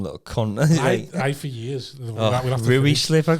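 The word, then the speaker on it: Ruislip: I've told you about that time I pronounced rice lip wrong, haven't I?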